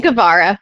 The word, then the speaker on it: Guevara: Gavvara.